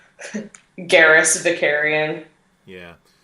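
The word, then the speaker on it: Vakarian: Garrus Vicarian. Yeah. Oh, I almost said Garrus Shakarian.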